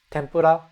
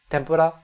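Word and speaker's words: 天ぷら: n sound now senpai tempura now I'm going to use the m soundi tempura the difference is barely noticeable in fact I would say it's not noticeable so that it doesn't matter.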